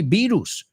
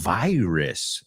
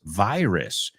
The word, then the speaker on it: virus: Right in English it's but in English vi virus virus. So that's just one example of a word that is pretty universal, but uh there is no similarity between the way it's pronounced in English and in Spanish.